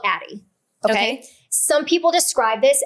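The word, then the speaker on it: Addyi: So I anyways I started her on a medication called Atti.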